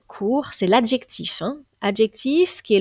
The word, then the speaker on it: court: confondre non plus avec un autre mot qui a la même prononciation mais qui a un t final court c'est l'adjectif adjectif qui